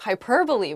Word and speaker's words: hyperbole: My friend uses a lot of hyperbole when she talks about her life stories. I really don't think some of those things happened to her. Hyperbole, not hyperbole.